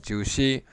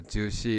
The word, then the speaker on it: 朱熹: Okay, so in the following document, Zhu Xi, born 1130, died 1200, so the Song Dynasty, states his opinion on this matter.